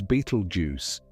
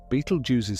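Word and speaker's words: Betelgeuse: The upper left corner of Orion, the star that marks one of his shoulders, is Beetlejuice. Say it, however, feels natural to you. Betel use is the common English pronunciation, though the original Arabic name is older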